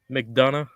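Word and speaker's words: McDonagh: Mcdana.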